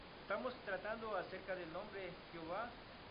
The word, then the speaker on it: Jehová: Y así resultó la forma latinizada Jehová, de donde viene Jehová, con acento en la A.